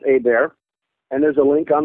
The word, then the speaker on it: Hebert: Looks like Hebert, but it's pronounced Hebert.